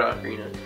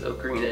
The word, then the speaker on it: ocarina: And well, I said both pronunciations in that sentence, ocarina and ocarina. I'm trying to lean more towards ocarina because I think that's the more appropriate way to say it, but it's either or, so I'll flip back and forth between those two.